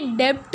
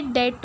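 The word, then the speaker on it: debt: ये डेप्ट नहीं है, ये डेट होता है। क्या होता है, जब लोग इसकी स्पेलिंग के साथ इसको प्रोनाउंस करते हैं ना, वो क्या करते हैं, ये बी को ना, वर्ड को बी को भी कंसिडर कर देते हैं। ऑफकोर्स स्पेलिंग के अंदर कंसिडरेशन है इस वर्ड की, लेटर की, मतलब बी लेटर की, पर कुछ ऐसे वर्ड्स होते हैं जिनके अंदर जिनकी साउंड हमें नहीं आती है।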